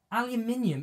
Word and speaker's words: aluminium: aluminum ian is yes aluminium is the correct way to say aluminium she's not crazy